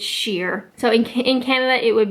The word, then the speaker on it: Shire: Another one that I had trouble with is sheer or shire. So I love Lord of the Rings. Love Lord of the Rings. And the hobbits are from the Shire. S-H-I-R-E, Shire. And that's how they say it in the movie. So when I see that word, I think Shire.